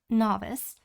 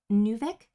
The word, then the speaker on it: novice: Uh, lower than rank F is just novice. Uh, fun fact, I used to pronounce this as Nuvik. I pronounced this for the longest time as Nuvic.